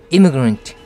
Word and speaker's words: immigrant: 그래서 이민해서 들어온 사람들을 뜻하는 말이 immigrant. Stress는 앞에 있기 때문에 임을 강하게 하면 됩니다. 그래서 발음이 immigrant, immigrant.